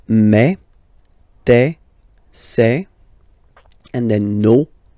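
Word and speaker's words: mes: Okay, so for the phonetical or pronunciation aspect of it, then remember that this es here combined will give you the sound e. Okay, so you'll pronounce it like me. Mais, mais, okay, te, so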